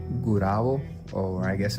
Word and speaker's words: Gurabo: And we were going by this bridge in this town called Gurabo, or I guess it's pronounced Gurabo.